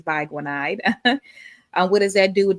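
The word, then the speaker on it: biguanide: I think I said bigide before, but it's bananide.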